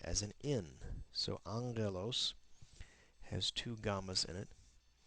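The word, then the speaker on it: ἄγγελος: as an in so Angelos has two gas in it the first is pronounced like an N the second as a Gama on page three we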